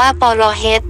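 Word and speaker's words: ប្រហិត: สิ่ง นั้น ๆ โดย คำ เขม เรียก ปร หิต ออก เสียง ว่า ปร เฮ ที่ คำ ไทย เลือก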